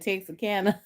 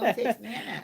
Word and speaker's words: Texana: It sounded like you said Texarkana. No, Texana. Oh, I okay.